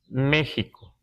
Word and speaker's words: México: Queremos aclarar un poco que en los documentos antiguos aparece México y así lo pronunciamos todavía. Este, parece ser que en algún momento esta X se usaba como J en algún tiempo, en algún momento, así cuando llegan los españoles.